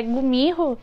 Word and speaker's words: Gumiho: que ela é uma Kimiho. Eu vi que tem alguma pronúncia que é Gumiho em coreano, mas o episódio coloca dessa forma.